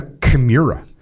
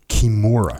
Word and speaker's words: Kimura: got you in a chimura by the way I saw a comment on YouTube about my pronunciation of Chimera what's the proper Kimura Kimura Kimura okay so what am